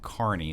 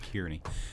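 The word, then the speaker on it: Kearney: the Nebraska C uh I always say it wrong Carney is apparent I I always said it Kierney um but Nebraska Carney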